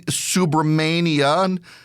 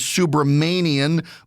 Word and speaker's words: Subramanian: The first one is Courtney Subramania. Uh I know her last name is Subramanian because it's spelled out phonetically on Joe Biden's Q&A.